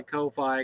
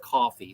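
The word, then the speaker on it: Ko-fi: of money in my Kofi account or coffee I I I've been I heard it's pronounced coffee so um oh he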